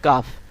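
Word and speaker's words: كاف: 5 নম্বরে দেখুন অক্ষরটি আছে হলো কাফ।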